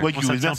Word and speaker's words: Wagyu: Le bœuf, c'est du bœuf Wagyu. C'est comme ça que ça se prononce. Wagyu, ouais. Wagyu, par contre.